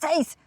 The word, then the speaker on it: Sins: Und die haben mir immer gesagt, das heisst nicht Sins, das heisst Seis.